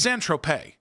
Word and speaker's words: Saint-Tropez: Okay, it's Saint-Tropez. Is how you say it.